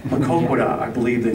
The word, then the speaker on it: Maquoketa: Maquoketa, I believe they say. Anybody know the actual pronunciation? That's right. Maquoketa.